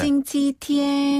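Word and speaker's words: 星期天: 요거 말고 좀 쉬운 발음. 네. 싱치티엔.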